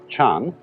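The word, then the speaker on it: 禪: pronouncing the Chinese word chan and this in turn is the Chinese way of pronouncing an Indian Sanskrit word Gana and Jana refers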